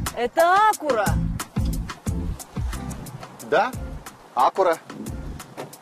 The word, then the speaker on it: Acura: лап и между прочим ударение по идее должно делаться на втором слоге acura потому что аку во многих языках означает точность аккуратность в общем даже посмотри